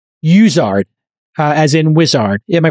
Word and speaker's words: Uizard: say to their peers so we like to call it wizard internally but some people call it users some people call it your eyes Arts it doesn't matter okay so u-i-z-a-r-d dot